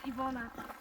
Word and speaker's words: Iwona: English spelling, but when I'm going home, it's Ivona. So It's it's spelled Iwana, but it's Ivona. Yes, yes. I-W-O-N-N-A? A. O-N-A. Yeah, Iwona.